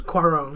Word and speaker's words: Cuarón: a fossil how do you say it it's cuarón it's cuarón for roma your ghost lamp the